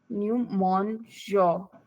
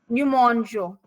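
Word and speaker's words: nous mangeons: Numonjo. S भी है. We don't pronounce S, no?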